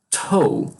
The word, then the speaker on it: toe: Toe. Então, esse T, quando verem representado, ele tem mais ar.